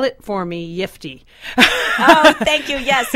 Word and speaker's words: Yiftee: spell it for me yiy oh thank you yes it's yiy y i f te as in uh yippy I got a yiy